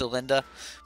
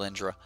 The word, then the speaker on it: Elenda: in my head man I know it's a Linda but for some reason it's just it's stuck in my head is it Indra so trigger chat with